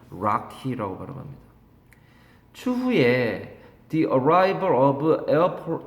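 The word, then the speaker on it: Rocky: 있다는 거죠 이렇게 산맥입니다 우리가 쓸 때는 로키 산맥이라고 쓰지만 실제로 발음은 락희 추후에 the arrive of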